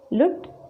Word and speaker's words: लूट: खुला, लुट और चुना।